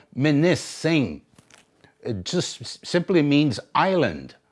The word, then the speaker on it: Munising: that's what that means ish another town they pronounce it munising okay you listen to the weather reporters that's what that's what they pronounce it municin supposed to be called minis singh it just simply means island that's what it